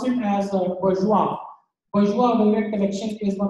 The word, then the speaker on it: Bourjois: This is again so we pronounce it as Bourjois.